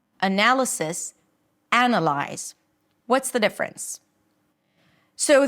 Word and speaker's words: analysis: I've submitted my analysis.